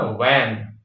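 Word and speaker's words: van: गलतियां करते हैं लोग जो बंद गाड़ी आती है जो पैक होती है उसको वन कहते हैं वी ए एन वन उसको लोग कहते हैं भान ज्यादातर लोग है ना और लिखते भी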